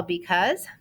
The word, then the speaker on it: because: should feel the vibrations so this s is voiced z all right and a little song to remember how to spell because b-e-c-a-u-s-e i know how